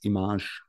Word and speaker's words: IMAGE: And of course, just on a side note, whoever worked in this project knows that the correct pronunciation is IMAGE.